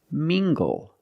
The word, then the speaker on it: mingle: Let's look at this word, mingle. Using the nasal sound and the hard G. Together, mingle. Mingle.